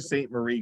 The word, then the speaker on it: Sault Ste. Marie: say some of Kitchen that to Kippy and pronunciation. Sault Ste. Marie correctly, you're doing okay.